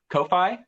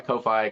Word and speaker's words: Ko-fi: you can I know because the whole thing is like you can buy me a coffee but it's spelled ko-fi and I'm like but that's Kofi whatever that website is